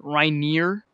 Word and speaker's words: Reiner: reiner here what's good he actually uh likes his name pronounced as rainier yeah it's actually right